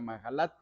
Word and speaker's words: Mahalat: sobre mahalat o mahalat los judíos pronuncian la H como si fuera una j mahalat y masquil de David